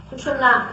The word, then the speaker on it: सुषुम्ना: कोई सुषुम्ना कहते हैं, कोई सुषुम्ना कहते हैं, तरह तरह के इसके प्रोनाउंसिएशन है, लेकिन सुषुम्ना इसका सही माने में प्रोनाउंसिएशन है, जो कि आप मंत्र में भी उच्चारण कर सकते हैं।